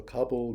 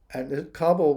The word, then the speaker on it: Kabul: a sub submarine and kabul was the way the british pronounced the capital of afghanistan kabul kabul like cublichana big chickpeas anyway chickpeas